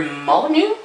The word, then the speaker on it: Molyneux: Lionhead Studios was started in 1996 by Peter Molyneux, I think is how you say his name.